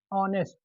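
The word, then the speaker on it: honest: या no article तो इस वर्ड को हम जब बोलेंगे तो प्रोनाउंसिएशन क्या निकलेगा पहले ये देखते है ऑनेस्ट इसका पहला अक्षर क्या निकल रहा है अ निकल रहा है।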